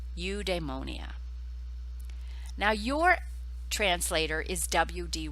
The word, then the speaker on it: eudaimonia: then translated it into a form we can pronounce on the right you demonia now your translator is w.d ross and terence